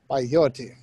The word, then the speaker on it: peyote: Peyote. Peyote. I think it's pronounced peyote.